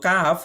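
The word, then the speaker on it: قاف: তো কাফ উচ্চারণ করতে গেলে জিহ্বার গোড়া থেকে একটু আগে বাড়াইয়া জিহ্বার গোড়া থেকে একটু আগে মানে জিহ্বার গোড়া যেখানে আছে না জিহ্বার গোড়া একদম গলায় জিহ্বার গোড়া এই গোড়া থেকে একটু সামনে আসবে আপনারা চিত্রে দেখতে পাচ্ছেন একটু সামনে এসে উচ্চারণ হবে কাফ কাফ জিহ্বার গোড়া থেকে একটু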